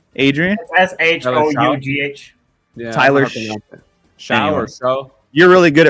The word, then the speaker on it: Shough: Yeah, Tyler Show or Show. You're really good at pronouncing names.